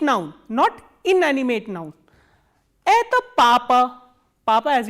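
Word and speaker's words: кто: please see here क एंड त together are pronounce एतो नॉट कुतो you have to remember this thing and ख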